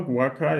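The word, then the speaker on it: Andrés Guaca: Andres Guaca? I think so. Guaca, yeah, is right.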